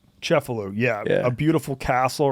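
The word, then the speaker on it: Cefalù: pronounce it? Cefalu. Cefalu, yeah.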